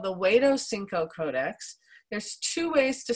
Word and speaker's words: Huexotzinco: will tell you that this is called the Huexotzinco Codex. There's two ways to spell it. You'll see the red flag there on the map. Huexotzingo.